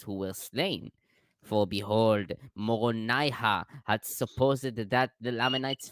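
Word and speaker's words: Moronihah: No, they have corrupted the reformed Egyptian and just The totally reformed Egyptian that mispronounced they made up. Right. Yes, They left got it. off 2 ha's. It's Moroni ha ha ha.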